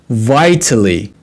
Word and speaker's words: vitally: Now, what is vitally important? And remember, we can pronounce it like D sound, right? Vitally important, vitally important. Flap D, right?